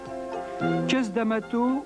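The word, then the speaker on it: Cus D'Amato: tabac trois castes d'amato le nom est prononcé qu'est-ce d'amato où le vieil homme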